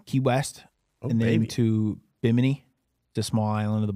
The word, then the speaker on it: Bimini: Some people say Bimini and then some people say biminy.